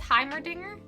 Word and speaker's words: Heimerdinger: down doodle will be vote H Hy mering or hmer Dinger for the pronunciation it's Heimerdinger it's himer danger John's